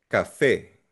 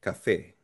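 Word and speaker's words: café: Cafe. May asento letter E. Cafe.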